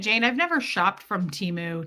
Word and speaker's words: Temu: I was to say, Geoplanet Jane, I've never shopped from Temu. Temu, is that how you say it?